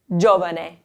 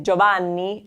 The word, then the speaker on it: giovane: It's the accent here, it's not on the second to last syllable, it's actually on the first syllable. It's giovane. Giovane. If you accent the second to last syllable, you say Giovanni, and that's somebody's name. It's still blended, Giovanni, but this is giovane.